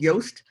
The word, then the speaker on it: Yoast: If your website happens to be based on WordPress, there's a wonderful plugin for it called Yoast. That's spelled like toast except with a Y.